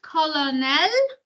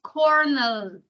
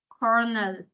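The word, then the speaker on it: colonel: or before the noun it this is not colonal it's Coral okay you don't pronounce it colonal you pronounce it Corel okay using coordination or and subord coordination I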